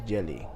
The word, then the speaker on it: djeli: The word for griot in the Manding language is Jeli. That's spelled D-J-E-L-O-I.